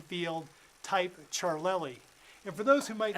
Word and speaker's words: Ciarlelli: type Craig in the last name field type charlei and for those who might not have known me for 40 years that's spelled c i a r l e l